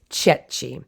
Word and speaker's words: ceci: but that's not so in italian the cha sound comes from c i or c e it's chi or che